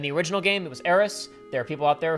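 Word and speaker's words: Aerith: This is the original mistransation of her name because the correct way to pronounce the kanji which spell aith would be. It's meant to sound like Earth because she has a special connection to the Earth.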